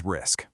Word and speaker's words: RISC: You pronounce it RISC, and it stands for Reduced Instruction Set Computer.